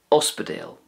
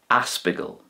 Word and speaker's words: ospidéal: Now this can be used in any of the dialects, but it's more commonly used in Munster, Uspedale. In Connacht, you would more than likely hear it being pronounced like this, Aspigal, Aspigal.